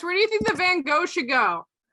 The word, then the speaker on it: Van Gogh: do you think the van gogh should go it's pronounced oh my god the american way of saying it is van gaal but i do you